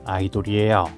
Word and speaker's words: Ador: 큰 느낌이에요이 녀석의 이름은 아이돌이에요 뉴진스 소속사 어도와 철자는 같지만 발음이 달라요 어도어 아니에요 아이돌이 맞아요 전 처음이 녀석의 상세